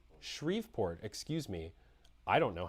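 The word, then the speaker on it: Shreveport: In his request, Landry said there have has been elevated crime rates in uh, Chevport, Baton Rouge, and New Orleans, as well as shortages in I'm sorry, what's the pronunciation? Shriveport, excuse me.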